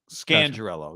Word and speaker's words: Scangarello: people been talking about his name we've actually been saying it wrong the whole time yeah how does it scan your ello scangirello is what bob was juicing calls him on the podcast scangirella the title to